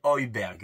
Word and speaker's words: Højbjerg: Højbjerg, donc ça se prononce bien Højbjerg, hein, le joueur de Tottenham.